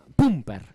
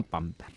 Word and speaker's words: Pumper: lo que nos dé que era Pumper y no Pamper.